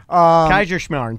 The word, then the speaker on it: Kaiserschmarrn: Kaiserschmarrn. Try it. So, well, I know. Yeah. But Say Kaiser and then Schmarn.